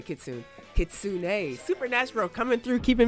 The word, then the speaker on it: kitsune: way up kitsune kitsune what did i say kitsuna let me see how it's spelled kids i said a kit soon i better say kitsune kitsune supernatural coming through